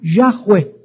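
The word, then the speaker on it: Yahweh: llamado y apúntala H W H se pronuncia yahwe Y entonces Dios le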